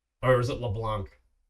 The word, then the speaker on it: LeBlanc: So, we have Leblanc. Or was it LeBlanc? It's It's actually neither. It's LeBlanc, so the C is silent.